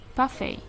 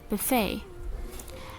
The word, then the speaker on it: buffet: So the first one, there is a word buffet, and in British we pronounce it buffet, and in American we pronounce it buffet.